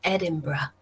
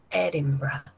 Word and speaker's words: Edinburgh: Cuidado, chicos, aquí que la pronunciación es bastante distinta de la escritura, ¿no? Se pronuncia Edinburgh. Edinburgh.